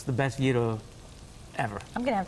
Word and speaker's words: gyro: And we also have the gyros, which a lot of people pronounce gyros. Yes. Yes. I'm glad you're clarifying this for us. It's actually gyro.